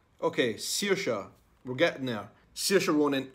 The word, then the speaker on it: Saoirse: Saoirse. Okay, Saoirse.